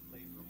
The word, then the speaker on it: Labrum: Labrum, like the muscle.